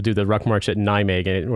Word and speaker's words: Nijmegen: So like the place, remember where people do the Ruck March at Nijmegen, it would be, I think it's Nijmegen, or you may not even pronounce the last N because there's some interesting